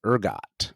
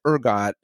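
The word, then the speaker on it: ergot: the ride okay s very good and uh it's spelled e r g o t Urgot okay this fungus has been known all the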